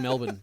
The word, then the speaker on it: Melbourne: Or the R in Melbourne. We Or- never pronounce the R in Melbourne.